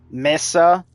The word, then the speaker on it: Mesa: Loki, Limbo, Lavos, Mag, Mesa. Okay, M-E-S-A, meh, not may. Okay, there's no M-A there, it's M-E. Mesa, Mirage, Nidus, Neza, Necros, Noko, or Nako, does not depend on pronunciation here.